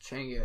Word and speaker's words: Changa: pronounced Changa, is a DMT-infused smoking blend.